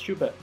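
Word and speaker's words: Shuppet: I think I was saying the name wrong the whole time. It's Shubat.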